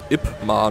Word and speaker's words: Ip Man: Geschrieben wie IP Man. EP, neues Wort, und dann M-A-N. Mann halt. IP Man. Oder halt richtig ausgesprochen, Ip Man.